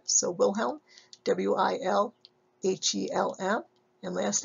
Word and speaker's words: Wilhelm: So after you put WIL down, think skirt with hemline or helm of a ship, and hopefully you'll go the helm of the ship, so Wilhelm, W-I-L-H-E-L-M, and last name, W-U-N-D-T.